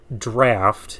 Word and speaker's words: Draught: There's the Draught, or Draft is, I guess, the correct pronunciation. But this is the Draught here, the GHT, is the British spelling.